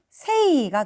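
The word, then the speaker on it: 聖: 3번, 4번 중에 하나고 성자 같은 경우는 음독이 세이가 되겠습니다.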